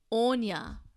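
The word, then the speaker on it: Áine: so today we've got the card Oh Anya now she's a powerful Celtic goddess and fairy queen who gave birth to incarnated fairies from her romances with mortal men the name is spelt AI na and the card says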